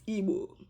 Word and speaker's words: Igbo: Now, let me go ahead and try to talk about this in Igbo language. Yeah, that's my language. It's Igbo.